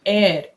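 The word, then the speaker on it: heir: ही इज एन एयर, इसको हम एयर pronounce करते हैं, उत्तराधिकारी। एच साइलेंट है, तो एयर, ए साउंड आ रहा है इसलिए एन लगाया है।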